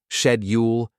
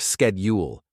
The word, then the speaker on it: schedule: Schedule became shedule instead of schedule.